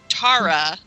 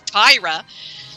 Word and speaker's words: Tara: you know it was how they pronounced Tara they kind of don't you know accent or whatever it come out Tyra and some of them thought my name was Tyra so it's a Canadian